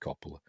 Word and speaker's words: Coppola: Francis Ford Capola's or Coppola. I pronounce it Coppola.